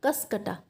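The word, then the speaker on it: Cuscuta: ये प्रोनाउंसिएशन देख लेना, कसकटा, ठीक है।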